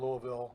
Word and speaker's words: Louisville: moonshine going to Louisville.